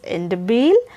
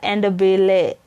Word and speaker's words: Ndebele: Yes, you can pronounce it as Ndebele or Ndebele. Both are possible. Ndebele or Ndebele. Both are possible because pronunciations vary from one region to another. Because it's a proper noun, you can pronounce it either way round.